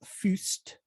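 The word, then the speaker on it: Fuest: The first film is from 1971, and it is The Abominable Dr Phibes, classic movie of its type, directed by Robert Fust. That's how you pronounce it.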